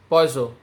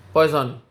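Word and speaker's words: Poisson: modulus is poisonous ratio the pronunciation is poiso and not poison uh till now we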